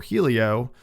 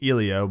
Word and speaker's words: Helio: a younger brother named Elio or Helio it's really ilio but it's spelled h e l IO Gracie which most people